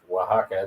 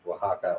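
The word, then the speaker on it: Oaxaca: the H sound like Waka the x is an H sound so it's Waka or Mexico um because these are old words that predate predate the Spaniards um at least that's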